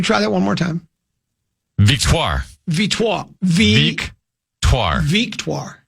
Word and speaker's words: Victoire: Victoire. Victoire. Victoire. Victoire. VEEK. The hyphen TWAHR. Victoire.